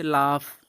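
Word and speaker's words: laugh: आगे देखिए और भी कुछ वर्ड है, जी एच को हम फ पढ़ते हैं, जैसे लाफ, कफ।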